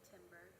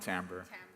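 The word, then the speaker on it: timbre: I definitely think the the timber the timber yeah they pronounce it tamber.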